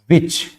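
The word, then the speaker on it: which: क्या रिप्रेजेंट करता है, जितने भी क्वेश्चन वर्ड्स होते हैं जैसे कि विच, व्हाट, व्हेन, वेयर, इन सभी में एच क्या होता है, साइलेंट होता है। यहां पे आप सभी देख रहे हैं इन सभी में क्या है, एच साइलेंट।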